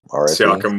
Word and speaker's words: Siakam: But Siakam was what?